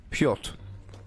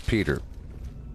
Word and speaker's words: Piotr: and I say, well, I think it's pronounced Piotr. But he says it's Peter. I was like, sorry to say this, but you know, you're saying your name wrong because it's Piotr.